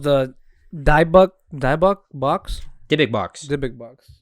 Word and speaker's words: Dybbuk: Dybbuk box.